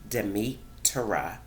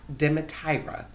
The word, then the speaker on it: Demetira: my name okay so my name is pronounced Demeter ah not demet IRA its Demeter i taked